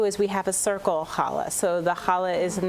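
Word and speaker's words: challah: Rabbi that we want to talk about is Hala did I say it correctly you did can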